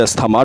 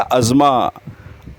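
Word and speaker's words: asthma: अस्थमा doctor भी अस्थमा कहते हैं। This is a wrong pronunciation. तो रेड वाले हमारे क्या लिखा हुआ? रॉन्ग प्रोनाउंसिएशन और ग्रीन करेक्ट प्रोनाउंसिएशन। तो करेक्ट प्रोनंसिएशन इसका अस्मा। अज्मा। अज्मा। नेक्स्ट टाइम अस्थमय को आप अस्मा कहिएगा जो करेक्ट प्रोनाउंसिएशन है।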